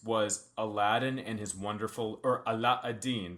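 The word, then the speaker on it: علاء الدين: Aladdin and his wonderful Aladin that's how the Arabic pronunciation and his wonderful lamp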